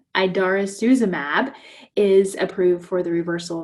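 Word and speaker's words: idarucizumab: approved for each medication and so um the idarra i'm sorry i pronounced that wrong idarosuzumab is approved for the reversal of the pradaxa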